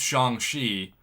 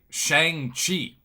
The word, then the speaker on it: Xiangxi: which by the way i mispronounced xiangxi i used to say shang chi because that's how my english would read it and i've worked really hard to say how his name's supposed to be pronounced because i think that